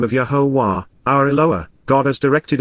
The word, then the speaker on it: Yahowah: ongoing basis, because, truly, the mouth, pay, of Yahowah. The proper pronunciation of the name of Yahowah, our Eloah, God as directed in his Torah,